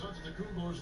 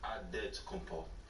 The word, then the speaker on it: Antetokounmpo: In the real way, you gotta say it with a D, so it's Antetokounmpo. But in the Greek way, you say it with the NT, like Antetokounmpo.